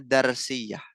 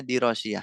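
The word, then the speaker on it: دراسية: yaun berikutnya nyafalu madrasiah diras ya bukan daros diras karena ada alifnya kalau enggak ada alifnya bacanya darsiyah kalau enggak ada alifnya darsiyah karena ada alif ya bacanya dirasiah dari kata dirasah rtail madrasatil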